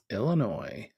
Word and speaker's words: Illinois: you're in Michigan no Illinois that's pronounced Illinois for you folks that uh may not be from around these parts Joe says this concert